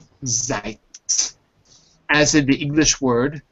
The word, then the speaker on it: Zeit: Each of those spellings, it's pronounced I. And I'll give you an example. The first I is in a foreign word, like, so it's not used very often, but the word Zeit, as in the English